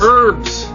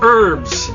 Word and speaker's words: herb: No, that's herbs. Herb. On the continent, we call it herbs. The H is silent.